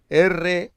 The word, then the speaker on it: ruach: Las palabras bíblicas para espíritu son ruach, R-U-A-C-H en hebreo, ruach, y neuma, con la P delante, que no se pronuncia, neuma, en griego.